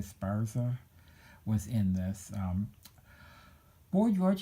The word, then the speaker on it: Esparza: hearse yeah that's how you say his name Esparza was in this boy George had a very